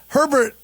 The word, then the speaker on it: Herbert: Well, and Herbert, it rhymes with pervert.